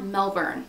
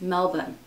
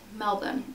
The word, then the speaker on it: Melbourne: to pronounce Melbourne Australia it's not Melbourne like there's not a hard-r apparently it's Melvin like that's how they